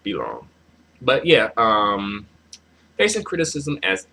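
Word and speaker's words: Fei Long: Next is Finlong. Uh, Filong? I don't know why I'm having trouble pronouncing these guys' names. Filong. I don't know why I'm saying Finlong. It's Filong.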